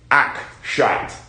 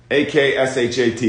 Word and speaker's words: Akshat: Akshat. A-K-S-H-A-T, Akshat.